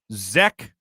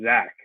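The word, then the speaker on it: Zech: defensive lineman and uh zek is that how you say it zack mcfadden he he actually is pronounced zach okay interesting weird yeah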